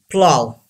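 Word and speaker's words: plough: cough innocent number one plow say this word plow gh is silent don't say plot blah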